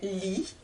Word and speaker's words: lit: je reprends une dernière fois cette phrase elle lit les numéros du loto j'espère que ce cours